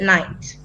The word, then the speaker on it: Knight: Kilmer is a story about Richard Knight. Okay, now the K is silent.